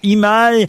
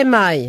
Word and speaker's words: EMI: il faudra répondre à cette question puisque aujourd'hui Imaï me sort 48 disques. On peut reprononcer ce nom, s'il vous plaît. EMI.